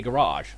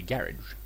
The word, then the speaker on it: garage: If I wanna be British, I gotta pronounce things British, They don't say garage, they say garage.